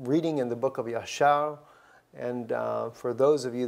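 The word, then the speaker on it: ישר: are written in the book of Jasher, I think is the way that you would pronounce it in the English language. Yashar is how we say it in Hebrew.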